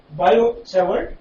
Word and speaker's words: Biot-Savart: It is called Biot-Savart law. Biot-Savart, T is silent here.